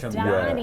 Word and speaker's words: Karamchandani: So just Karamchandani. I left yes. The NI syllable at the out. end. Yeah. Yeah, because Yeah. there's that other A in the middle. Karam Chandani.